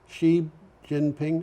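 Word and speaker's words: Xi Jinping: about the pronunciation because i think they use x as sh she would be she jinping okay has said his country will aim for emissions peak before 2030.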